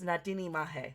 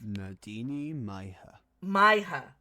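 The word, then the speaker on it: Na Daoine Maithe: More contemporarily known as Nadini Mahe. Let me see if... Nadini Maiha. All right. Nadini Maiha. And this is the Leinster dialect, so there might be different pronunciations. But let's go with what the game is using. So Nadini Maiha. It was close, but not quite.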